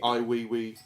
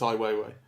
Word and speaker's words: Ai Weiwei: we've seen human flow recently which is the I we we excuse me I Weiwei I didn't know how to pronounce his name before I never heard it